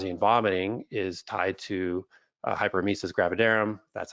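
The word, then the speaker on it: hyperemesis gravidarum: vomiting and nause and vomiting is tied to hyper mesus gravidarum that's how you pronounce it which is tied to histamine again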